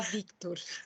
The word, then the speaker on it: Victor: E ninguém pronuncia, todo mundo fala Vitor, Vitor, Vitor. Eu acho tão bonito Victor, assim, dá Victor. Porque você tem um Vi, né? Aí você tem quase um contrapasso e daí Tor, né?